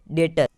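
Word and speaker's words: debtor: अब DEBTER, यानी डेटर।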